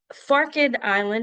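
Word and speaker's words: Forked Island: And so, Farid Island is how we pronounce that.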